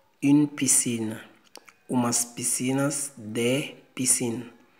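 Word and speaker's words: piscines: Uma piscina, une piscine, umas piscinas de piscine. A gente não pronuncia o S, não.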